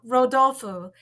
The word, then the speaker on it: Rodolfo: Rodolfo, but it's Rodolfo. like Rudolph, but Brazilian.